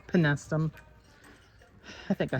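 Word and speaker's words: Penstemon: Penestum. Not penestium, penestum.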